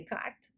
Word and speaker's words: Descartes: desde o tempo de Descartes ou de carta Como se fala em francês que possuou que a